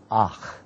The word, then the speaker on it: akh: In the Arabic language, the word for brother is akh, akh.